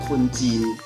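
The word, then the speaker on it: คนจีน: 秦用泰文读出来就是类似于金这样的发音，所以中国人的泰文就是坤金。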